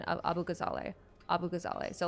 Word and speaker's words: Abu Ghazaleh: So like, it's pretty phonetic, but it looks kind of scary. I didn't learn Arabic as a kid because it's post 9/11 Texas, and that's just not a great idea sometimes. Although being bilingual would be cool, at least for Arabic. Yeah, but Abu Ghazaleh is how I and my family pronounce it.